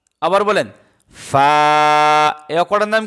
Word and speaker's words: ف: মুড়ানো উপরে এক নক্তা তার নাম কি বলেন ফা আবার বলেন ফা এই অক্ষরটার নাম কি ফা আবার বলেন ফা